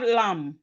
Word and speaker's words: lamb: Then we have lamb. Lamb. Lamb. The B in lamb is silent.